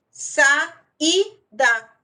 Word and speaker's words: saída: Por exemplo, saída, sa-i-da. Eu separei aí uma sílaba tônica é o I e eu tenho um hiato.